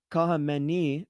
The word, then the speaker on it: Khamenei: So this one is Ayatollah Khamenei.